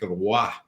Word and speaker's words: Roy: Well, you remember the classic one with Cherry years ago with Patrick Roy. Don McLean pronounces it like that, the full French pronunciation, and Cherry looks at him and says, "Who?